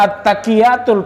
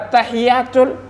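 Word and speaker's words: التحيات: Bacaannya suka salah, at-taqiyatul padahal at-tahiyatul. Nggak murni juga bacaannya.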